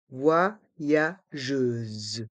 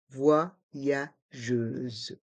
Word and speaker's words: voyageuse: se prononce je et le S se trouve entre deux voyelles la voyelle U et la voyelle e donc se prononce Z voyageuse voyageuse un voyageur une voix